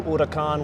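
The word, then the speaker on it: Huracán: Oh, the new Huracan with the.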